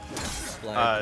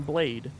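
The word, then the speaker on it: Blaidd: Blythe is a. This is my boyfriend wolf from Capra Elden Ring. Elden Ring. Oh, is that how his name is pronounced? Yeah. Yeah. Blythe. Really? I called him Blade.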